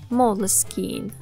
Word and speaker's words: Moleskine: Fun fact, Moleskine has no official pronunciation. If you're feeling a little awkward about how to pronounce Moleskine, don't be, because there's no official pronunciation. But if you want to be in line with the Italian maker of Moleskine, the Italian pronunciation is Moleskine.